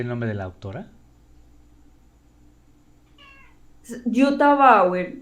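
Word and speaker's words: Jutta Bauer: nombre de la autora yota bauer se escribe como j dt a y power como suena con be larga bauer ok ok entonces este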